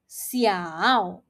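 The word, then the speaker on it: 小: The second word that we have here is xiao. Xiao. It means small. Now, how do we pronounce this word? Remember, XI is pronounced as alphabet C. So this word is pronounced as xiao.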